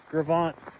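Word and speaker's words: Gros Ventre: Gravant, the Gravant slide. That's how how we pronounce it around here, at least. The Gravant, Gros Venture, the Gravant slide.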